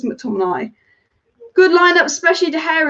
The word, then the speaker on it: McTominay: his name was it tommy nay or mctominay i feel like it's mctominay good lineup especially the